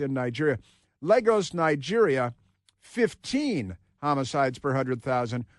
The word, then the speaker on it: Lagos: And Lagos, I know it looks like Lagos, but it's pronounced Legos in Nigeria. Lagos, Nigeria, 15 homicides per 100,000.